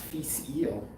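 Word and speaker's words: Fèis Ìle: i'm horribly pronouncing but this is now i know pronounced feast eel which is the music festival unfortunately they did not have in scotland this year it's 53.3 percent um 1997.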